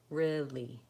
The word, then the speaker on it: really: not too difficult if you start with your tongue in that position once you've got gotten comfortable with saying try putting the rift before it Li Li really really go slowly break apart the syllables as that becomes more comfortable speed up really really really that's kind